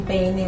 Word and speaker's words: peine: También hay en peine un dictongo. Uno dice peine. Allí cuando vemos que hay una unificación de esas dos vocales, entonces decimos que hay dictongo.